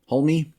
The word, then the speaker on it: Hulme: We're trying a new pronunciation. Hulme? Anybody that can't hear pronouncing the L this time is just going to